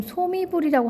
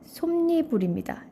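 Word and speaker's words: 솜이불: 자, 발음해 봅시다. 여러분, 소미불이라고 하나요? 솜니불이라고 하나요? 자, 소미불이에요? 솜니불이에요? 선생님 마음대로 할 수 있는 거 아닌가요? 이렇게 생각할 수도 있겠지만 표준 발음법에 의하면 솜니불입니다. 즉, 니음 청가가 발생한 발음을 표준 발음으로 인정하고 있어요. 자, 소미불은 니은 청가가 발생하지 않은 연음 그대로 연음시킨 거고요. 솜니불, 네, 니은 청가를 한 것입니다.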